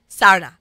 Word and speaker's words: Sarna: Shah Sarna on Instagram.